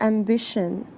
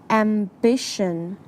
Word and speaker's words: ambition: notice the pronunciation for ambition the tion makes a shun sound ambition be careful while pronouncing